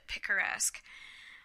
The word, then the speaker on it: picaresque: That's how he pronounced it, picaresque.